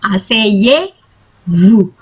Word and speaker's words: asseyez-vous: Nah, ini juga sama, asseyez-vous. Ini ada konsonan belakang, jadi nggak dibaca. Asseyez-vous, asseyez-vous.